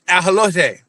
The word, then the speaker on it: ajolote: They call it an ajolote. Yeah, It's I'm American. spelled exactly the same. It's just pronounced differently.